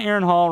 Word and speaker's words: Aaron Hall: Yeah, Aaron Hall rhymes with Aaron Paul.